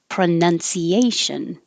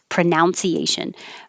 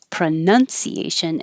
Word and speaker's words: pronunciation: and in number seven the n-u-n is none so i hear this combination um people put the two together and say pronunciation but it's not it's pronunciation and pronouns and somebody